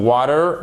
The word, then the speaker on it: water: c'est water et and British English ça sera plus avec la prononciation d'un T bien distinct pour le coup ce sera pas un de ce sera un water water et en prononce évidemment moins fortement le or final qu'on entend beaucoup en américain qui a un accent nasal water ok ça c'est